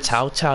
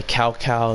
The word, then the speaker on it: Cao Cao: Because in the back in the day, instead of saying Tao Tao, you say Cao Cao, and you say Cao